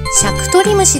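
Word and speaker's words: 尺取虫: でしょうかムードん正解は尺取虫でした細長い芋虫で人が親指と人さし指で尺を取るような進み方をするのでこの名前がついたそうです静止する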